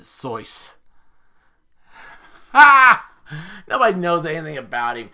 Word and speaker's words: Seuss: as this you're wrong as the deuce and you shouldn't rejoice if you're calling him seuss he pronounces it source nobody knows anything about